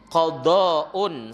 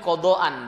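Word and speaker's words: قضاءً: Wa qala fil Mughni, berkatalah Imam Ibnu Qudamah di dalam kitab Al-Mughni, innahu yakunu ba'dal fajri qada'un, sesungguhnya witir itu ya sebentar, innaha yakunu ba'dal fajri qada'an, bacanya begitu enaknya.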